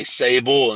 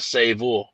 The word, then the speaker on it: Savol: people hear it, and just to exchange the V sound for the B sound, it automatically switches your train of thought to who they're talking about. And some people say my name and they say Savol instead of Savol, It's oh, the weather guy.